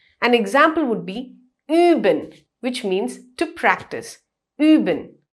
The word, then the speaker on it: üben: That's the similar way that U with 2 dots on top of it is pronounced in German. An example would be üben, which means to practice.